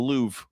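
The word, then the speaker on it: Louvre: We call it the Louv.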